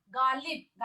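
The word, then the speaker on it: ग़ालिब: गालिब, गालिब पढ़ेंगे नहीं, गालिब। क्या पढ़ेंगे? गालिब, ठीक है, कंठ में जोर देकर।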